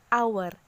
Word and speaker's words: hour: Contohnya an hour. Huruf H di situ dibaca A, bukan H.